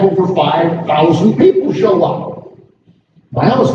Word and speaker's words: Miami: Miami's not that big at the time. By the way, I'm pronouncing it the way native Miamians do. Miami. M-Y-A-A-M-A. Just by telling you the original spelling of the area.